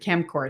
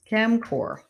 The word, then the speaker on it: CEMCOR: look at it called, I pronounce it Chemcor. It's CEMCOR. I don't think I can write up here. I can put it in the chat. Chemcor.